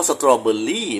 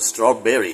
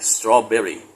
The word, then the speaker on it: strawberry: ฉะนั้น ย้อน นิด นึง ถ้า เป็น คำ ว่า สตอเบอร์รี่ แบบ คน ไทย พูด ฝรั่ง จะ ออก ส Strawberry เห็น มั้ย Strawberry เบ ไม่ ใช่ เบอร์ นะ ขอ ย้ำ นะ